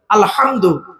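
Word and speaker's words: الحمد: বোনেরা শুদ্ধ করে নিন আলহামদু এ গলার ভেতর থেকে হে টা উচ্চারণ করবেন আলহামদু আলহামদু মানে হচ্ছে সমস্ত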